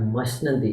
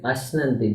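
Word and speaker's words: अश्नन्ति: It is not mashnanti, it is ashnanti, because surendra lokam, the ma has been swallowed there.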